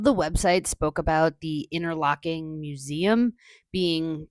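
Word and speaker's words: Interlachen: So today we are in Interlocking, Florida. I want to say Interlatchin so bad because that's how it's spelled but that's not how it's apparently pronounced.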